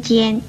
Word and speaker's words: 歼: 与纤字相似的有尖跟颤这两个字，尖字的国语注音是鸡烟尖，一声尖。